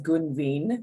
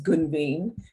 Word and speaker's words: Gunveen: My name is Gunveen, and that's the right way to pronounce it. It's Gunveen, and I was born in New Delhi, India.